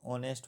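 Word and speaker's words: honest: में क्या साइलेंट है इसमें जो एच है ना वो साइलेंट रहती है ऑनेस्ट पढ़ते हैं हम इसे क्वेश्चन नंबर 24 द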